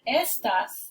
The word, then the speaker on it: estas: Here we have estás, you are, and estas, this means these.